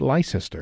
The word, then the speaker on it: Leicester: Or if you're from outside of the UK, Lester, Lester.